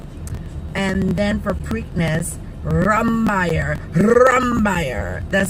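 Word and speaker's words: Rombauer: title right now and then for preakness rumbaire rumbaire that's how they say it and for belmont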